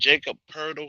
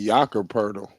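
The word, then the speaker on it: Jakob Pöltl: is his first name but I think it's pronounced purple Jack and Jacob hurdle he he started with the Spurs but he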